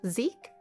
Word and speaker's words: Zachary: His name is spelled Zachary, but pronounced Zeke?